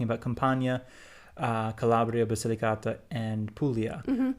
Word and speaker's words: Puglia: Italy specifically, we're basically talking about Campania, Calabria, Basilicata, and Puglia, like the four main regions of the south that are typically called the south.